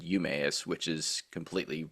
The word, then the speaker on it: Emmaus: I heard somebody say Emmaus. Yeah, same here. The pronunciation here says it's supposed to be Emmaus, or E is like a short A, right? Or Emmaus, not like E, but Yeah, but I've